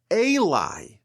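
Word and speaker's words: אלי: The word ulai, when it's spelled this way, can also be read as elai, meaning to me.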